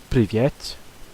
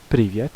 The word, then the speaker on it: привет: And if there's a second yeah vowel in the word, or just in the second syllable, then it'll have sort of a small amount of stress on it, like привет, привет. So you can just about hear it.